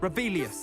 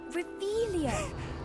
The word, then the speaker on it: Revelio: You're Rebellious. saying it wrong. Ugh, Revelio.